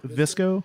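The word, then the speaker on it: VSCO: Visco, Oh. the photo editing app. Oh, that's how you pronounce it.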